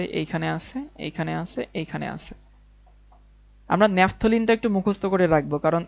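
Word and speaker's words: naphthalene: বন্ধন তিনটা এবার দেখি ন্যাপথলিন উচ্চারণ কিন্তু ন্যাপথলিন ন্যাপথলিন ন্যাপথেলিন না ন্যাপথালিন না ন্যাপথলিন ওকে নেফথলিনের ক্ষেত্রে কি আসে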